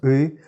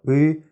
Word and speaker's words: Ы: What you need to know about U is that it resonates somewhere here in your throat rather than in your mouth.